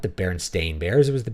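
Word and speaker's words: Berenstain: the baron stein bears I thought it was the baron stein bears but I remember the barenstein Bears from before I could read and my mom may have said it wrong right and you go and look it's the baron stain Bears okay barenstein is a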